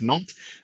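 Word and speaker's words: Nantes: in the city of nalt uh it's pronounced without the s at the end and we're the sixth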